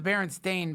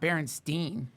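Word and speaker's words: Berenstain: I mean, pronounce it's the Baron Stain Bears. It's spelled like Stain. It's not Baronstein.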